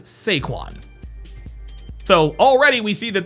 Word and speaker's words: Saquon: His name is not Saquan. His name is Seaquan.